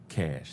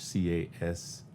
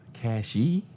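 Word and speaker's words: Cashe: pretty heroic stuff uh cash c-a-s-h-e you know when he was in korea all the koreans they actually pronounce everything they do so they said when they uh cashie he was like no my name is cash you know you have an e at the end they just saw the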